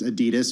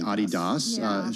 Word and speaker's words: Adidas: Adidas, or as I was corrected earlier in the day, Adidas, shares ADRs of Adidas.